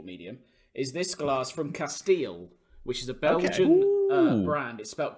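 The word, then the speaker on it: Kasteel: it's an audiovisual medium, is this glass from Castile, which is a Belgian brand. It's spelled K-A-S-T-E-E-L.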